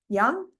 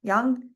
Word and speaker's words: Jung: famous by a psychologist Carl Jung young Jung young spelled with a J um so there you